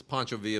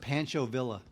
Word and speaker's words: Pancho Villa: in Via rides it's Poncho via movie uh I don't know what else it's pronounced Pancho Villa yeah it's Poncho via movie I don't really know